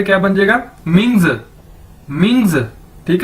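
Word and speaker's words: 名: पास ऊपर ये है Ming M आई एन G Ming ठीक है इसको कैसे पढ़ेंगे मिंग मिंग और इसी तरह जड आई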